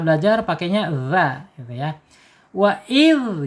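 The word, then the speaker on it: وإذ: Wa id gitu ya, nggak boleh pakai wa iz lagi ya.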